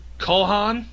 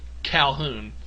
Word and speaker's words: Calhoun: I refer to her as Colhan for whatever reason, but it's actually Calhoun.